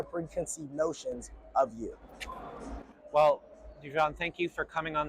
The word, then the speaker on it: DeJon: So it's going to be like, you say it like deja vu. So it's going to be THEVDEJON, DeJon, DeJon Reid.